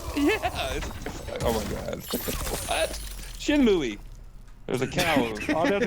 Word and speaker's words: Shenmue: it's actually Shenmue. The E's Stop. pronounced different. Stop. But is Shinmu the correct pronunciation in English compared to the Japanese actual pronunciation?